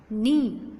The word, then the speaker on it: knee: 7th वन नी KNEE नी K silent, first word is silent.